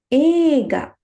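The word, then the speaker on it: 映画: Movie, we say eiga, right? We will pronounce the word movie as eiga.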